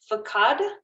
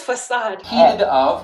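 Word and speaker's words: façade: see the hostility behind the friendly fakad oh god oh it's facade i say facade there was a little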